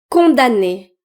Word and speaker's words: condamner: Et ce mot condamner condam le M est silencieux et ce mot 2è deè donc maintenant vous allez pouvoir prononcer ce mot.